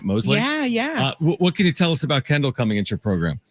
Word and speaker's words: Mosley: That's how you pronounce the last name, right? Mosley?